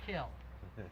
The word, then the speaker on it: kiln: So I'm sorry, but I do the fire water poetry here by calling a kiln a kill. But you'll see that if you look it up, you'll see that's the alternative pronunciation.